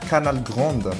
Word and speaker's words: Canal Grande: second warm up match Canal Grande Canal Grand we say Canal Grand French pronunciation they are not aware